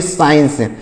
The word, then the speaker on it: science: CIENCE, तो यहाँ पर भी C साइलेंट है, यहाँ पर भी C साइलेंट है। तो हम इसे क्या पढ़ेंगे, CIENCE, तो इसे पढ़ेंगे साइंस।